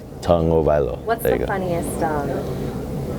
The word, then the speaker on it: Tagovailoa: Tagovailoa. So you say tongue first, O-Vailoa. Tagovailoa.